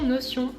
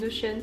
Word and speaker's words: Notion: Ensuite il y a l'application Notion ou Notion, ça dépend de quel pays on vient pour le prononcer.